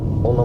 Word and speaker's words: 1: coup voilà maintenant je sais que ça se prononce one pourquoi pas il y